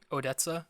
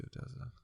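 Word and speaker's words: ODESZA: It's a song by I don't know how to pronounce their name. Odessa. O-D-E-S-Z-A. Yeah. Oh, I like Odessa.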